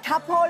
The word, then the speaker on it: 塌棵: 係嗱，塔坡咧個上海發音咧。同呢個脫虎差唔多，所以過